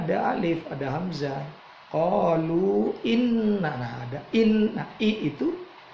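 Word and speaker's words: إِنَّا: Inna ada nun bertasydid namanya gunnah. Inna, pinna-nya itu mad tabi'i.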